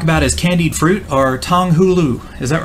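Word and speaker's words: 糖葫芦: You had to stress the no, there are usually four tones in each Chinese character. Refer to the third tone of Chinese character. Hu, pronunciation. The second tone. Hulu. Yes, there we go.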